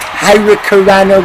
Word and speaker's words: hurricanrana: It's pronounced hurricanrana, Richard.